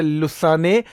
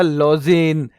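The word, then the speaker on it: Lausanne: तो 23 जून को 23 जून इसका हेड क्वार्टर है लुसाने या लॉजेन। इसको बेटा लुसाने हिंदी में कई किताबों में लिखते हैं। वैसे इसका उच्चारण जो है प्रोनंसिएशन इसकी लॉजेन मानी जाती है।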